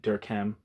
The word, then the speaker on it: Durkheim: French name and uh since he pronounces it Dirk ham and he's you know written like textbooks I believe he wrote a textbook on like basic uh classical sociology uh which would obviously entail a Durham I'm going to pronounce it the way he pronounces it oh the concept